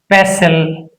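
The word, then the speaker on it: pestle: If a word ends with STL, T is not pronounced. In this word, STL is present. STL. Castle. Hustle, pessle and rustle.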